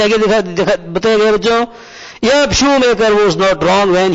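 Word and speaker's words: Schumacher: शूमेकर। अब बच्चों प्रश्न ये है कि इसका प्रोनाउंसिएशन क्या होगा।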